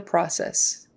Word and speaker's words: process: process feedback on the process feed back on the process typically we say process not process ah that would be um a short o sound process feedback on the